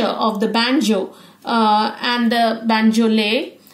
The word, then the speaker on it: banjolele: Now, this is pronounced as the banjolele, pronounced as banjolele.